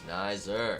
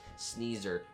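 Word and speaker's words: Sneyser: It is, of course, just remember geyser, Exactly. and it's Snider, like geyser. Snider. Although, of course, there's also sneeze in the mix there too. So I suppose sneezer could have been an understandable pronunciation.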